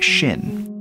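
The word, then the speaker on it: 心: heart and mind it's this character which is pronounced Shin in many way ways our culture is infected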